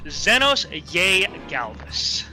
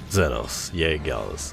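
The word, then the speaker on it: Zenos yae Galvus: be G Galvis because because a usually makes an e sound but this was written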